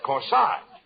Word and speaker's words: corsage: corsage of course aj that's corsage spelled that a-g-e is pronounced like odd as in corsage or our garage now where did you